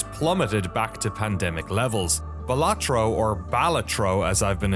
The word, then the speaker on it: Balatro: balatro have I been saying it wrong this whole I've been emphasizing the uh I've been saying balatro is is a balatro the official is that Canon you can say it however you want to say it the way that I say it is not the correct way